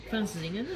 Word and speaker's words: Francesinha: Am I pronouncing it wrong? Francesinha?